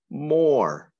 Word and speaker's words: more: the next word is more it rhymes with core can you show how